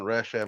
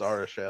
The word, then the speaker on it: Arishem: It's not Rasham, it's Arasham, it's but Arishem. doesn't matter.